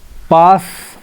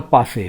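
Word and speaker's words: passé: Pass or passe, both are accepted pronunciation.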